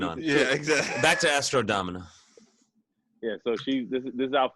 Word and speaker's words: Astro Domina: It's just Astro Domina. You added an I. Yeah, I said Domina.